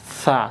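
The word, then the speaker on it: ثاء: Tsa. Sekali lagi bacanya tsa. Ini ujung lidah tempelkan ke gigi seri yang gigi kelinci itu di depan itu atas. Tsa. Tsa. Keluarkan anginnya.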